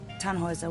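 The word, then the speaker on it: Tannhauser: why what's your name tanhauser we'd pronounce it tan hoiser with an umlaut german roots yes my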